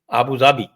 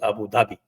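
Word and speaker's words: أبو ظبي: रमजान हो जाता है जैसे अबू जाबी उर्दू में it pronounce अबू जाबी but other wise every बडी से ट अबू धाबी स्क्रिप्ट इ the same the letter is the same Jawad सेही वो आता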